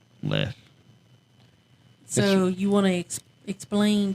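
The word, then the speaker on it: Leif: le le Ericson day is it Le or Leaf Le okay it's left his name is spelled l e i f left so you want to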